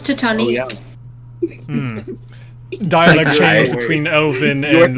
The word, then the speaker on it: Titanic: my God but you you pronounced it interestingly it's the Titanic I thought it was to Tony dialect change between Elvin